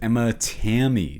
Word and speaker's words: Emma Tammi: What did you think of Five Nights at Freddy's 2, directed by, I believe the pronunciation is Emma Tammi.